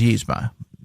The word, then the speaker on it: Yzma: It is Yzma. Yeah, it is Yzma. Yeah, it's Yzma. Yzma. That's how I was raised to pronounce it.